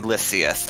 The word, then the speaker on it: Lysias: It's supposed to be Lysias, according to, like, the Roman conventions. Or is it Greek? It's one of the two.